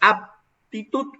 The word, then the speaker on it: aptitud: pronunciamos de manera correcta, una es aptitud, con P, aptitud.